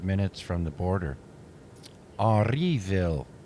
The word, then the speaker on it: Henryville: Henryville is, it's not, you can say, I just anglicized it, but it's spelled Henryville, which Henri is Henri, and then Ville.